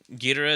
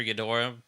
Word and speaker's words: Ghidorah: else mothra maybe if gir gira is in it or ghidorah depending on how you want to pronounce it usually mothra's in